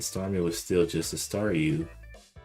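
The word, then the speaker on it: Staryu: was still just a staru. I could never pronounce its name right. It always ended up sounding like saw you.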